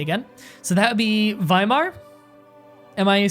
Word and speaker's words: Weimar: It's pronounced as V. And way is pronounced as vey. So that's, hold on, let me get it in front of me again. So that would be Weimar.